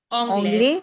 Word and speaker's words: anglaise: anglaise, Anglais. anglaise. Anglais. Single S between that give the sound of Z, to anglaise.